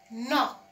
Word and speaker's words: knock: And this one is knock. Again, the K is silent because the N is there.